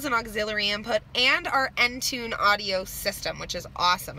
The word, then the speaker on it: Entune: auxiliary input and our Entune audio system which is awesome I find so menu so it's spelt just like that and tune and it is an